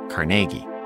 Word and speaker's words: Carnegie: from the business world, like Andrew Carnegie, or, as he pronounces it, Carnegie.